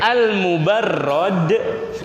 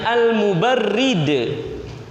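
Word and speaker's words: المبرد: Ada yang membacanya Al-Mubarrad, ada yang membacanya Al-Mubarrid. Kalau beliau sendiri, dia lebih ridho yang mana? Beliau sendiri lebih condong beliau kalau dipanggil Al-Mubarrid. Agak kurang suka beliau kalau dipanggil Al-Mubarrad, karena Al-Mubarrad yang didinginkan.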